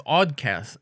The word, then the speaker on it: Awdcast: Okay, so it's Awdcast. It's spelled like awkward. So AWD cast and podcast.